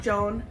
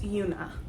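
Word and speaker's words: Joona: And it's not Joan, it's Una.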